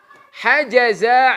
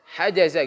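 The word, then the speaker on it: حجز: Hajaza Aliyun al-maq'ada. Ya semuanya. Hajaza Aliyun al-maq'ada. Diusahakan enggak ada mad, wanet bacanya. Hajaza bukan hajaza. Bedakan antara ada mad, antara enggak ada mad cara pembacaan.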